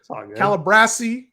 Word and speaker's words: Calabrese: kill me for that calabrasi Calabrese like Calabasas yo uh speaking of